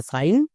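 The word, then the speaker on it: sign: না দুটো ওয়ার্ড আলাদা ওয়ার্ড যেমন একটার জন্য উচ্চারণ হচ্ছে সাইন আরেকটার জন্য সিং এই বিষয়টাই অনেকে বুঝতে পারছো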